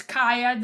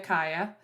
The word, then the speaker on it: Kiya: Those of y'all who don't know how to say my name, it's Kiya. The way to remember is like Hiya Kiya.